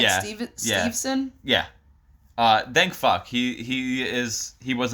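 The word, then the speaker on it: Steveson: Did I pronounce that name right? Yeah. Stevenson?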